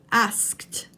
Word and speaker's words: asked: This is a tricky one for your mouth because you have to produce the K sound and then the T sound. But it's still only one syllable, not asked.